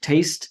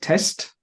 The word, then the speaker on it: taste: um on one occasion when you said taste you said test sometimes when you need